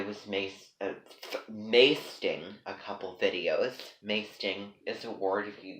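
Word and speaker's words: maesting: Masting is a word. If you go on my website, it is spelled M-A-E-S-T-I-N-G. The word masting means, I know what you're all thinking, it rhymes with hasting, hasting.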